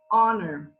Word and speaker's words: honor: our so big love the H is silent in this word and the vowel is the one that sounds out first and we say it's an honor or in half an